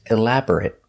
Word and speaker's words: elaborate: you elaborate on that if I use this word as an adjective the pronunciation changes if it's not a verb it's elaborate it it making a short sound elaborate describes something made